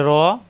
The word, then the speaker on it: ر: এটা র র র র, জিহ্বার আগার ফিট উপরে তালুতে লাগবে, র র র, মোটা হরফ, জবর আসলে আকার প্রকাশ